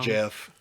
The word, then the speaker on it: Geoff: Jeff. Oh, Jeff Duncan. Yeah. You know him? Nope. But I know it's Jeff and not Geoff. It's spelled It's spelled Geoff. Yeah, but that's and Jeff.